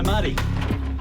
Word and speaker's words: Marty: So, Marty, rhymes with party.